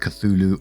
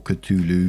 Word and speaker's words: Cthulhu: And before we do get into the story, I did see that it can either be pronounced Cthulhu or Cthulhu.